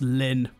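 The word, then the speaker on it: LLN: year and this band it's spelt ll N and apparently it's pronounced Lin and the album is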